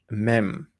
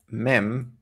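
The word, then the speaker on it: מם: have time so the next letter is uh mem this one's also really important and i'm really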